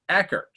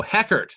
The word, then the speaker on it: Heckert: uh what's the deal with mormons with eckert there's an h there but i hate correcting people oh heckert so it is pronounced it's an aspirated age got it yeah